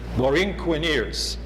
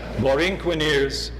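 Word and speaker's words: Borinqueneers: milestones for example the recently approved wrkn ears Loreen Quinn ears I have to pronounce it correctly Lauren Qin ears monuments in New Britain to commemorate the brave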